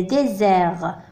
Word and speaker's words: désert: Le désert. قلنا بأن S عندما يكون entre deux voyelles ينطق Z.